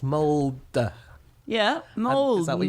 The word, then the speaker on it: Mould: So, Anna, just before this we started recording, we ascertained that it's pronounced mold.